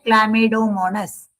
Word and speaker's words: Chlamydomonas: क्लामिडोमोनस. इसका प्रोनाउंस करते हैं क्लामिडोमोनस.